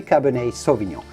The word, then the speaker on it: cabernet sauvignon: red wine grape variety cabernet sauvignon many people do say savignon it's better to say cabernet sauvignon a u in french sounds like the letter o so do say cabernet sauvignon then comes chardonnay i'm